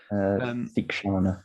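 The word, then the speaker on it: Theekshana: Thikshana.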